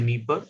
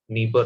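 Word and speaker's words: Dnieper: first one is kneepar it's not the nipper it's always it is always pronounced as niba river now how do how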